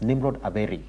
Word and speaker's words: Nimrod Aberi: Also joining her this morning then in the studio, we do have Nimrod Aberi. Actually, let me say it right. It's Nimrod Aberi, who is a law student at the University of Nairobi.